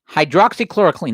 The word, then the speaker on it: hydroxychloroquine: of the company that makes what's the thing pronounced, Valerie? Say again? Hydroxychloroquine.